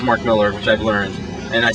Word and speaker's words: Millar: Well, it says Mark Millar, but it is Mark Miller, which I've learned, and I still think it's incorrect.